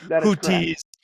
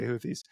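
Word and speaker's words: Houthis: It's something like a word that we it's a sound we don't have. That's a harder tea like hooties, but we that that's not even correct, you know. So, so sometimes I say hooties, sometimes I say Houthies, but normally I say Houthies because that's the accepted way.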